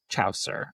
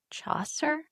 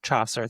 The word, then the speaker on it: Chaucer: Ian Fleming, Arthur Conan Doyle, William Shakespeare, or Jeffrey Chower? It's Chaucer. Oh, Chaucer. There you go. I knew I wasn't pronouncing that right.